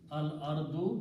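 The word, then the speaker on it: الأرض: So this will be pronounced al ardu, because two dhammas will become one.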